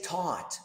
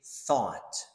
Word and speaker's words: thought: you say this word don't say taught that's the best to teach say thought through just like drive